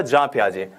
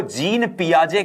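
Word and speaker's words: Jean Piaget: अमूमन इनको जीन पियाजे कहते हैं हम, क्योंकि इनका जो इंग्लिश में नाम है वो JEANPIAGET है, लेकिन इनका जो वास्तविक उच्चारण है इनके नाम का वो जीन पियाजे नहीं है, जां पियाजे है।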